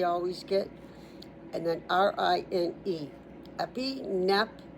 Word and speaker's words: epinephrine: Epinephrine. I'm pronouncing the PH like an F. That's the only way I can see it. Epinephrine.